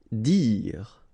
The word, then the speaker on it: dire: Dire. Same thing here, you don't insist on the final okay? Dire.